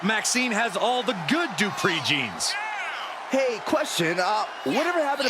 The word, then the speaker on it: Dupree: Maxine has all the good Dupree genes.